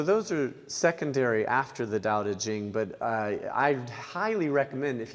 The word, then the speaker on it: Daodejing: So just if you look up Jane English, which is spelled just as you would imagine, and it's Daodejing, but spelled with T's, Tao Te, Qing, C-H, you'll find it.